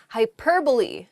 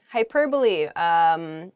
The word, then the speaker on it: hyperbole: The first word is hyperbole. Hyperbole. It's not hyperbole, though it does sound very funny to say that.